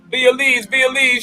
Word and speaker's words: B. Elise: Be Elise. I'm saying it right? Oh, Be Elise? Definitely. Okay, all right. I'll be pronouncing shit.